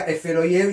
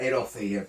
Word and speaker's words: Erofeyev: Acá me confundí, le decía Eferoyev y era Erofeyev.